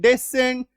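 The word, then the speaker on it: descent: तो एस सी एन ई सीन, एस सी एन T Saint, A एस सी एन एसेंट, डी एस सी एन डेसेंट, एस सी आई N science, S सी I double seizures.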